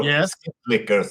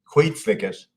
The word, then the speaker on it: Skitslickers: If skitslickers or skitlickers, as you say in America, I guess. Yeah, we say shit lickers. Yeah. Yeah. How do you say it? How do you say it? Skitslickers. Skitslickers. Okay.